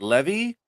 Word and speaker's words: Levi: name write that down is it like the jeans Levi like the jeans Levi yeah okay it is Levi just checking because you